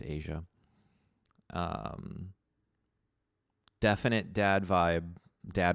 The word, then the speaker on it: Aja: asia asia asia asia aja i believe it's meant to be pronounced asia um definite dad vibe